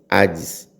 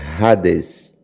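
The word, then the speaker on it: ᾍδης: Em português, para nós, Hades, a nossa pronúncia. Mas no grego, a pronúncia é Hades.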